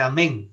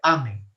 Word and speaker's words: amen: terminar siempre una ablación en español se dice pero en latín no se dice amén si no se dice amén la mayor fuerza de voz no porque no hay no es una palabra aguda no hay palabras agudas